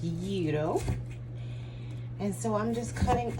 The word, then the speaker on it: gyros: that they put on years uh some people pronounce it gyros g-y-r-o but it is pronounced yuto and so i'm just cutting up some onions